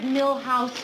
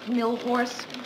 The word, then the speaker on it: Milhous: Grant asked me to remind you it's Richard Milhouse Nixon, not Millhorse.